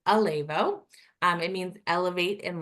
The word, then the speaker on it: Elevo: start with this like how do you say it it's AO um we reband it a couple years ago and I think this was really hard for even our full-time staff so it's Alo um it means Elevate